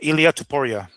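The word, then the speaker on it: Ilia Topuria: Ilia Tupora.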